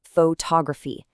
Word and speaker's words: photography: We start with photography, heavily stressing that first part, but add a suffix and the stress has to move to balance the word out.